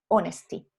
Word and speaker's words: honesty: Algunas H son aspiradas y otras H son silenciosas. Generalmente cuando vienen del latín son silenciosas, por ejemplo en honesty.